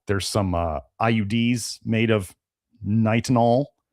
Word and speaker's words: nitinol: But then they started putting it in, like, you know, there's some IUDs made of nitinol. I believe that's how they said to pronounce it, was nitinol.